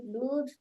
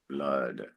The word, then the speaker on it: blood: a little irregular so it's not Blu it's blood all right with two o's you would think it's blue a long o but English is irregular so it's blood okay uh JoJo Portuguese